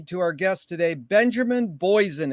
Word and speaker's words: Boysen: our guest today, Benjamin Boysen. Is that the way to pronounce it, Benjamin? Yeah, in English it is. Otherwise, it's Benjamin Boysen in Very Danish.